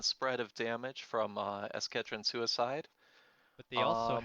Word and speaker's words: Escadron: in their twitch chat we've got some pronunciation help let's go take a peek oh I see escadron front escadron okay okay escadron suicide with one do